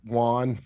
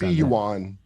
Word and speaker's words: yuan: is that how you say it no uh juan juan you saint juan i think it's juan yeah juan and not u.s dollars see how they see what the pronunciation is yuan uh and not us dollars for selling oil